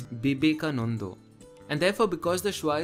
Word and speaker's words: Vivekananda: becomes potho and therefore this isn't vivekananda it is no not even that it's bibeka and therefore because the